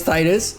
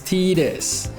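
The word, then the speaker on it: Tidus: So, this character's name is Titus. Yes, I did call him Titus. Okay, now the correct way to say his name is Tetus.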